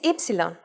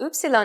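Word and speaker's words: ύψιλον: because well you'll see its name is ipsilon often called Upsilon in English and it sound is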